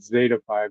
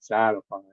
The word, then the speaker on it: Zetafi: up is so I I pronounce it Zetafi, not Zatify.